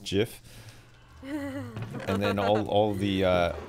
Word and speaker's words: GIF: word he's the man and he says it's jiff how can we be so how do you